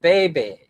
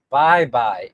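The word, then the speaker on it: Baybay: It's pronounced bye-bye. It's bye-bye city.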